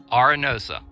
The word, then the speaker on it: Arenosa: And what's the correct pronunciation of this campground? So this place is called Arenosa. Arenosa.